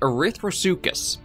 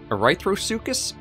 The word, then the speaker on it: Erythrosuchus: replaced the megalosaurus with the erythrosucus erythrosucus erythro erythrosucus i believe this pronunciation another species of arc